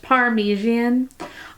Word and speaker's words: Parmesan: It's pronounced Parmesan.